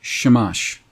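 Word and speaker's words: שמש: now in the bible the sun is a word that is pronounced shamash shamash is strong's h 81 20.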